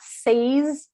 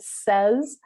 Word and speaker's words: says: it's has and does another one that changes pronunciation is say and says so it's not says it says which is just slightly different can be a